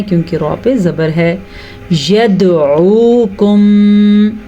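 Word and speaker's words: يدعوكم: يَدْعُوكُمْ دال پہ جھٹکا آپ کو فیل ہوا؟ اس جھٹکے کو کہتے ہیں قلقلہ. دال قاف طا با جیم یہ 5 حروف ہیں. جب ان پہ جزم آ جائے تو جھٹکا ضروری ہے, اسی کو قلقلہ کہتے ہیں.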